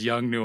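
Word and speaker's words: Yongnuo: Yeah, it's not Godoc's brand, but I can never pronounce it. It's Is with it? the Oh, YNOUGNO or something like. I think it's Young Nuo or whatever.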